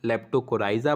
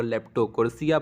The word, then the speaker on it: Leptocorisa: ध्यान दीजिएगा, इसे कुछ लोग लेप्टोकोराइजा पढ़ते हैं, कुछ लोग लेप्टोकोरेसिया पढ़ते हैं, जो आपको पढ़िए।